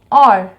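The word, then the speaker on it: hour: लेकिन साउंड पे हम फोकस करेंगे एन और। एच is silent hair, H जो है वो साउंड नहीं दे रहा, साउंड आगे ओ से स्टार्ट हो रही है, एन और।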